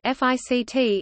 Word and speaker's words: FCT: The Firepower Control Team (FCT), pronounced FICT, is the basic unit of ANGLICO operations.